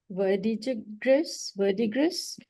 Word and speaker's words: Verdigris: So to all the organizers of, I don't know how you pronounce the word, Verdigris?